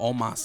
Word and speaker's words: Omos: Oh, Omos.